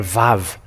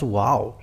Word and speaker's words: Vav: VAV it say or VAV so the wow it's it's VAV not wow and this V it